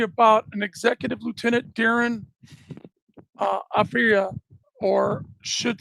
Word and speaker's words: Afiara: I'm pretty sure that's how you pronounce his name. It's for the record, it is Afiara, Afiara.